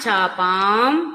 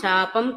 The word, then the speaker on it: చాపాం: ధృత పాశాంకుశ చదవకూడదండి, పాశాంకుశ పుష్పబాణ చాపాం, చాపం కాదు చాపాం, ప దీర్ఘం వినిపించాలి.